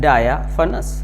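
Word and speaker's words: diaphanous: एन ओ यू एस इसका right pronunciation है डाया फनस डाया फनस डाय फनस इसको हमने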